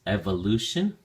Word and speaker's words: evolution: Um, the first is evolution. Evolution. Notice that the emphasis or stress is now on the first syllable. So, we say evolution. Evolution instead of evolve.